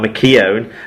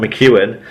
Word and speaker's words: McKeown: Apparently it's been changed now and is now McKeown, not McEwen.